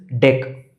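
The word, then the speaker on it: deque: The first one is deck. D E q U pronounced as deck.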